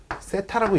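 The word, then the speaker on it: θ: 요 부채꼴의 중심각의 크기를 이렇게 쓰는데 요 녀석은 세타라고 읽습니다.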